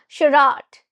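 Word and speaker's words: charade: And it has French origin.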